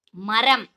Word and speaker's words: மரம்: இது எந்தெந்த இடத்துலங்கம்மா வரும் இப்ப நான் சொல்றேன் மரம் சொல்லி பாருங்க நம்ம என்ன சொல்றோமா மரம் அப்படின்னு சொல்றோம் மரம் அப்படின்னு சொல்றோம் கிடையாது மரம் அப்படின்னு சாஃப்டா சொல்றோம் இல்லையா அதனால அதுக்கு எந்த ர